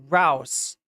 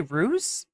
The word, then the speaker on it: Rouse: Dominique Dominique says uh it's Dominique Rouse like rhymes with mouse not did I say ruse or something I don't